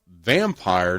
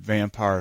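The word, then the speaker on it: Vampyr: all right the OG Nosferatu 1979 at number seven okay they put the Remake okay uh vampire 1932 the vampire it's spelled a little German anyway yes v-a-m-p-y-r yeah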